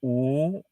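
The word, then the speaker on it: 五: a wrong number but in chinese five is pronounced ooh and when i was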